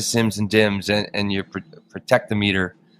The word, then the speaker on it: Protectometer: I was digging into this uh protectometer I guess is probably the proper way to say it but yeah please I love this well I think you guys in North America I think you'd be inclined to say prot armer is that right yeah